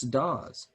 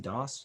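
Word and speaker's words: Dauss: yeah looks like it's hook's daws or dos how is that pronounced das i believe dos yeah yeah if you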